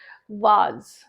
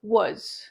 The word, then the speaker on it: was: Example, was. Now many people pronounce it was, yeah, was, but it should be was, right?